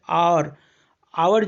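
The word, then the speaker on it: hour: जैसे आवर जो है एच से स्टार्ट हुआ है लेकिन उसका प्रोनाउंसिएशन ओ के उच्चारण में किया जाता है, आवर।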